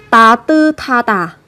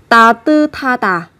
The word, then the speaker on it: 따뜻하다: âm tiết, kết thúc là một phụ âm sờ, theo sau của nó là một âm tiết bắt đầu bằng phụ âm hờ, thì hai cái âm này sẽ được kết hợp với nhau phát âm thành thờ, sẽ là 따뜻하다, 따뜻하다 và 못하다 hoặc 깨끗하다.